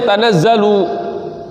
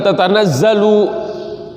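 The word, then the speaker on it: تَنَزَّلُ: Asalnya sebenarnya bukan tanazzal tapi tatanazzal. Tafa'ala yatafa'alu tafa'ulan, ya. Tatafa'ala. Ini tatanazzala turunnya terus menerus. Kenapa dibacanya tanazzalu bukan tatanazzalu?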